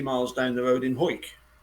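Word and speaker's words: Hawick: them was 20 miles down the road in whoit whoit which is spelt H 8 H a WIC k w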